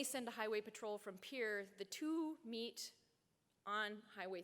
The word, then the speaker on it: Pierre: capital Pierre South Dakota you guys would call it Pierre but we don't know how to say it so we say Pierre Pierre South Dakota they they